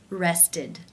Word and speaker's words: rested: Rested, rested. How do you pronounce this word?